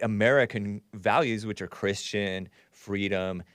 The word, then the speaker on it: Fried: that anyway he says Sam bankman freed which is spelled fried is Jewish which means